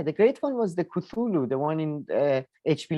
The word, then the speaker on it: Cthulhu: great one yeah the great one was the cthulhu the one in uh hp lover crafts books i don't know the big big bad like they're a bunch of things you can what did you just say cthulhu it's it's spelled really ct uh h it's